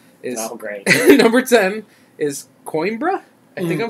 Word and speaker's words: Coimbra: and it's like Coimbra. So you Coimbra.